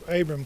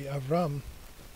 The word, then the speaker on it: Abram: a lot, so, and B is off, paradoxically pronounced as V as well a lot, so Abram can be Avram.